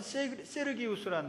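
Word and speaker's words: Sergius: 로마식 발음으로 하면 서기오라는 말은 세르기우스라는 말입니다.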